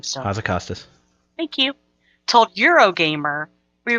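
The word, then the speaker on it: Hazzikostas: Blizzard lead encounter designer Ian, I don't know how to pronounce the last name still. Hazacostas.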